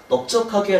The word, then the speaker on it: 넓적하게: 자, 넓적하게, 넓적하게 둘 다 발음 똑같습니다. 너에다 비읍 쓰나 너에다 리을 비읍 받침을 쓰나 둘 다 넓적하게 라고 발음을 하는데요.